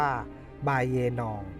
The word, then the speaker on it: บุเรงนอง: ของ พระ เจ้า ตะเบ็งชะเวตี้ พระ นาม ของ พระ เจ้า บุเรงนอง ออก เสียง ตาม สำเนียง พม่า ว่า บาเยนอง มี ความ หมาย ว่า